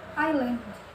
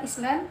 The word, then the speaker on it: island: Kemudian yang terakhir yaitu island, ya, atau pulau. Jadi bukan island tapi island. Kemudian huruf yang terakhir yaitu T.